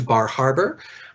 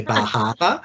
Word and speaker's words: Bar Harbor: opportunity to go to Bar Harbor. And I'm sure somebody from that part of the world would really criticize me for the way I've pronounced that. You have to say Bahama.